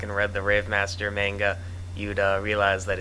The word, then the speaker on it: manga: It's just a little buggy thing, but it's pronounced manga.